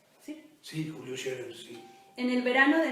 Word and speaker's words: Julio Scherer: ¿Está bien pronunciado? ¿Sí? Sí, Julio Scherer, sí.